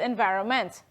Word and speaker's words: environment: Similarly with environment, that N there, right, sort of silent.